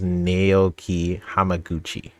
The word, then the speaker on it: Naoki Hamaguchi: I think how you pronounce it is Naoki Hamaguchi.